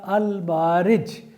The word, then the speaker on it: Al-Ma'arij: Whereas Surah Al-Ma'arij, pardon, I have pronounced this surah's name in the previous context as well wrongly. The correct pronunciation is Surah Al-Ma'arij, refers to higher echelons of the space or universe.